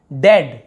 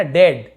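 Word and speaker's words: dead: नहीं रहेगी ब्रेड ड्रेड डेड यहां पर भी ए है ना डेड हेड ए का हो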